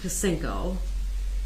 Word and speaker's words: Kacinko: Bedritsky, not Dr. Kacinko, and it's pronounced Kacinko, in Exhibit 211 lists information that Dr.